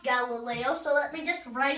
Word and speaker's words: Galileo: me just say scientists um you they was Galileo no it's pronounced Galileo so let me just write it the way